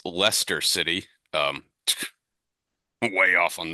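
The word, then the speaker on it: Leicester: I did research um two things um it's pronounced Lester city um way off on that spelled l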